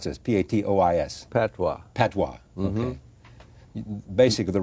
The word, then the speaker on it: patois: How do I pronounce this? P-A-T-O-I-S.